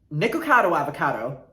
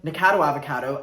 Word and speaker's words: Nicocado Avocado: we're going to be talking about ethan klein nicocado avocado i got it right i've been calling him nicado avocado and people were ringing me in the comments